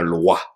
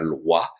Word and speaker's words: loa: fond n'est ce pas qui s'écrit l oa ou en créole elle.w a donc il ne faut pas confondre ce mot avec eux l'autre mot qui prône qui se prononce de la même manière en français loi donc c'est autre chose